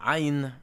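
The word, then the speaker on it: עין: and you have iron represented by the rough breathing it's very difficult to pronounce being produced at the back of the throat that's why it should sound like it's your breath is being cut off when I say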